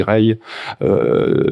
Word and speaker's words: Régis: et Ray et Régis, je sais jamais si on dit, ça s'écrit Régis, mais je crois que ça se dit Ray, était là, et donc